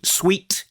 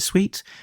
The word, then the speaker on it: suite: with a a guidance Suite guidance Suite is that the right way to pronounce it sweet not not not a guidance suit yeah a guidance system